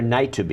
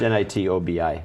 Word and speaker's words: Nitobi: was behind phone Gap is it n or night to be I have no idea how to pronounce it it's nit Obi we should know but